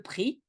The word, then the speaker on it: prix: The merchant said to him, le prix, the price. Watch out, the X at the end you don't pronounce, le prix.